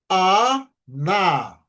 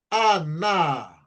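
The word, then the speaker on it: חנה: Então, A, na, Aná. Nós conhecemos também como Ana, né? Ana ou Aná, como para ficar na sílaba tônica correta no hebraico.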